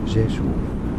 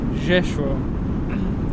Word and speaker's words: Rzeszów: In Polish, it is said as Rzeszów.